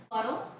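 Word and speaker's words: Pudel: The word poodle, the English word that we know poodle, it's actually from the German word puddle, which is spelled P-U-D-E-L, and it actually means to splash in water.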